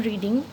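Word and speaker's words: read: রয়েছে এটার past tense কি হবে আই এম রিডিং এটার পাস্ট কি হবে রিড তাহলে আই এম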